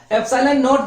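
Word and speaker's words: epsilon naught: इसका प्रोनाउंसिएशन ऐसा होता है, एप्सिलॉन नॉट जो होता है इसको हम बोलेंगे निर्वात की विद्युतशीलता।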